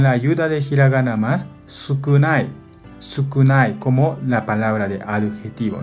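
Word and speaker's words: 少: Onyomi pronuncia sho, sho. Kunyomi pronuncia con la ayuda de hiragana más sukunai, sukunai como la palabra de adjetivo, ¿no?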